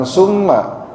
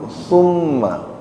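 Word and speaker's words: ثُمَّ: ya ditahan ada gunah tumma pakai pakai tsa bukan sin bukan summa tapi tsumma bukan summa kalau summa nanti bacanya pakai sin bukan summa tapi pakai tsa ujung lidahnya digigit sedikit huruf tsa bukan huruf Sin tumma tsumma la yamutu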